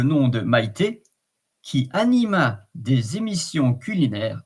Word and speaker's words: des émissions: fluidity of the pronunciation, you link the consonant with the vowel of the next word. So you say des émissions, and then the S becomes a kind of a Z, des émissions.